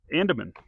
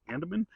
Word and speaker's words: Andeman: good here and that a St stands for Andaman I believe that's how you pronounce it it's a n d e m an Andaman and uh you know just really nice good